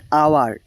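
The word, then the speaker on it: hour: জন্য এ আর্টিকেল বসবে কিন্তু এইখানে এখানে এইচ টা সাইলেন্ট থাকে ঠিক আছে তো এর উচ্চারণ হয় আওয়ার এইচ টা সাইলেন্ট থাকে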